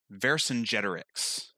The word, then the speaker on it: Vercingetorix: And he pronounces it Vercingetorix. And every single time, like, I was going like, who's this new guy?